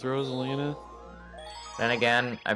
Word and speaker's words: Rosalina: here's the ultimate question because I've heard people pronounce it Rosalina I think it's just wrong I personally think that is definitely wrong but I think it's Rosalina then again I pronounce